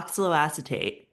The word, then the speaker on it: oxaloacetate: think when I first heard about is it oxaloacetate? Is that how you say it? Yeah, oxalloacetate.